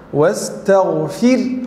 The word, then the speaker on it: واستغفر: Bagaimana cara membacanya? Wastaghfir, huruf ra itu harus jelas. Harus jelas tipis maksudnya.